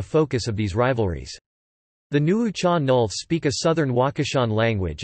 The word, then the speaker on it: Nuu-chah-nulth: The Nuucha Nulth, pronounced Nu-an-u, or approximately Nuucha Nulth, are indigenous peoples in Canada.